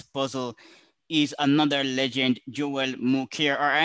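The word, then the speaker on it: Mokyr: is another legend joel muker or i don't know if i'm pronouncing his name correctly what it's pronounced it's smokier yeah yes he's a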